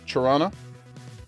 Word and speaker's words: Toronto: Toronto, as they say, if you're from here, you're not allowed to pronounce the T's.